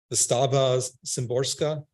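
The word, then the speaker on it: Wisława Szymborska: I don't know how to pronounce her first name. Wystawa Szymborska.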